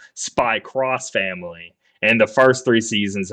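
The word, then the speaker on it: Spy × Family: working on sry so in Japanese it's not X it's cross so spy cross family in the first three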